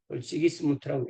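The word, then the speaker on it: Sigismund: 이것을 해결하기 위해서 나선 사람이 헝가리의 국왕인 지기스문트, 지기스문트라고 읽습니다.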